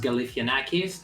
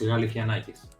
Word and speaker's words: Galifianakis: systems i guess in in english it's pronounced galifianakis and in greek it's pronounced really nikes but he's not very